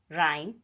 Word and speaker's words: rhyme: H is not pronounced when it comes after C, G, R. For example, choir, ghost, rhyme, etc.